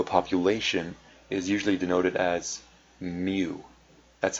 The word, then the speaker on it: mu: mean of a population is usually denoted as Mu that's how this this Greek symbol is pronounced it's me it stands for the stands